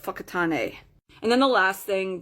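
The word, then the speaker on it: Whakatāne: "How do I get to the city called Wacotane?" And I got the funniest looks because it's not pronounced wac, it's pronounced fuckat.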